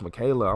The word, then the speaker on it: Michaela: I've been calling you Michael Meddy for the last few weeks. You should have said so, Michaela. Like, no, it's pronounced Michaela. I'm like, oh, I thought it was Michael.